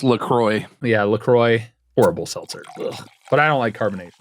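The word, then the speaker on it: LaCroix: So it's pronounced Lacroy.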